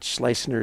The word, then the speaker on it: Schleissner: He said it was the same as his typical golf drive, a slice. All right. So I think that Schleissner is the way to go.